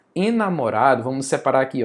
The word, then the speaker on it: enamorado: Enamorado. Enamorado.